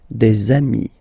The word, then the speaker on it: des amis: two, you will get des amis, okay? Des amis. So ami, remember, doesn't change. Even if you get to write the S, then you don't pronounce it, okay?